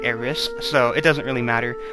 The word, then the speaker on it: Aerith: I think it's it's spelled aith but it's pronounced like AIS so it doesn't really matter um the name's